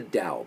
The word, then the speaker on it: Dao: hard and then the other piece that's the dao by the way dao t-a-o this is the book that we we